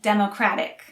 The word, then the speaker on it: democratic: related democracy democrat and democratic again the stress is on the first syllable for democrat and democratic and the stress is on the second syllable for democracy democracy democracy democracy